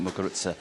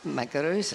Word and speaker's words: Muguruza: You pronounce the Z.